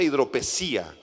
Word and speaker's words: hidropesía: Se pronuncia hidropesía.